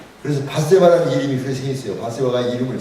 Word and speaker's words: Bathsheba: 바세바가 이름을 잘 지었어. 바세바를 영어로는 베쉬바예요. 우리가 바세바 그랬는데 베쉬바 스펠링이 BATHSHEBA 그 해석가 있습니다.